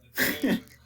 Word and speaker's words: Duquesne: So now we have the school that I still don't know how to pronounce, but I think it's Duquesne. Yeah, that's right. Duchesne. Yeah, Duquesne.